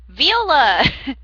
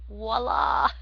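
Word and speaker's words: voilà: um unveiling one of his innaters he says viola yes i know it's a large violin that he went uh inside science high science it's pronounced voila apparently you do not speak french but yeah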